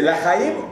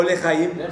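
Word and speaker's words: לחיים: ¿Cómo se dice? ¿Lajaim o Lejaim? ¿Zohreno? ¿Le o la? ¿Zohreno? ¿Le? ¿Zohreno? ¿Le o la? ¿Le? ¿Le? ¿Qué diferencia hay de le a la? La es no.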